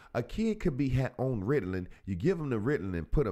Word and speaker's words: Ritalin: Ritalin. It sounds like the word riddles, Ritalin.